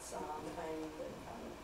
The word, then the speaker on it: Samhain: Well, he wrote it for Halloween, which he called Samhain, or some people call it Samhain, the old pronunciation.